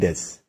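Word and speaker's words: です: Dalam bahasa Jepang, kata-kata yang punya akhiran U dibaca tipis dan bahkan hampir tidak terbaca sama sekali. Contoh, tabemasu dibaca tabemas, desu dibaca des, Yomimasu dibaca yomimas.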